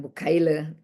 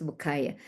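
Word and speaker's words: Bucaille: Jadi dia kasih kuliah umum dia menjadi mualaf orang pintar Mauris Bukaya Perancis ya bacanya jangan bukaile bukay Mauris Bukaye.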